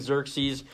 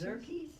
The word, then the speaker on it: Xerxes: As we read Esther, this first chapter, King Xerxes made a habit of throwing lavish parties and celebrations.